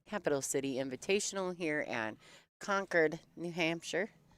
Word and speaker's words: Concord: City Invitational here at conquered New Hampshire conquered conquered I did not know it was pronounced that way so I feel like